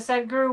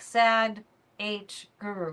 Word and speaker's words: Sadhguru: Kind of hard to believe that Sadhguru went on Joe Rogan's show.